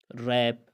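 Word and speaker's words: wrap: अगर किसी लफ्ज़ में डब्ल्यू आए और डब्ल्यू के बाद आर आए तो डब्ल्यू को हमेशा साइलेंट पढ़ा जाएगा, खामोश किया जाएगा, साइलेंट होगा डब्ल्यू।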